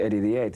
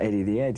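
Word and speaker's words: Eddie the Head: We just called it Eddie the Ed, you know, we don't pronounce the H back home. So, it's like Eddie the Ed, you know, and uh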